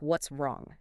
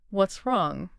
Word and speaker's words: What's wrong: What's wrong? Yes. What's wrong? The S sound at the end of what's blends instantly into the R of wrong. What's wrong?